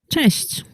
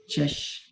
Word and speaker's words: Cześć: Cześć. Cześć. Let's play that again. Cześć. It's very fast. Yeah. Cześć.